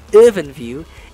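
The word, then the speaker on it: IrfanView: EwinView, yes, it's pronounced as EwinView, is used to display graphics.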